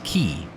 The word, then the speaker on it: Quay: Q-U-A-Y. But I know that one from Australia as Key. Same spelling, just different pronunciation.